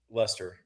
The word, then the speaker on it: Leicester: The only thing I know about Leicester City is it's spelled in a way that you don't anticipate that it's pronounced Lester.